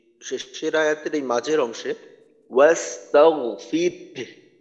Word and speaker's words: واستغفر: আচ্ছা, এই এই শেষের আয়াতের এই মাঝের অংশে ওয়াস্তাগফির হার আওয়াজটা কিন্তু হার আওয়াজটা প্রকাশ করতে হবে। হার আওয়াজটা যেন অস্পষ্ট না হয় বা উচ্চারণে যেন আসে, এই বিষয়টা খেয়াল রাখতে হবে। ওয়াস্তাগফির, ফির ফির র বলার পর হলকে শুরুতে একটু ধাক্কা দেওয়া যাতে হার উচ্চারণটা বের হয়।